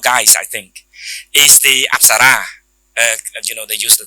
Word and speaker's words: អប្សរា: absar like that in we don't call upsara we use the term very similar term it upsore the our pronunciation is upsa and in the in